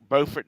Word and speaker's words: Beaufort: Well, Scott, it's like Beaufort, North Carolina, Beaufort, South Carolina, spelled the same way. I mean, Beaufort is correct.